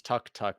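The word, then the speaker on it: tuk-tuk: look up this the the proper for is tuk tuk but it's also improperly call it took two claw tuk to glut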